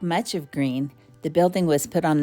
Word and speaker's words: Gruene: difficult not to say gruin but it is pronounced green the town is named